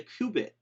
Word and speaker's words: qubit: bit would be a kubit and the kubit is or qubit depending on how you say it is a bit that